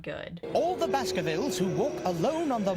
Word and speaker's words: Baskervilles: the hound of the baskervilles the hound of the baskervilles apparently even the dog can say it right in london